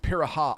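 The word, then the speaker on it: Pirahã: It's pronounced Piraha. I think you might actually be right, Slow Momo. I think it is pronounced Piraha.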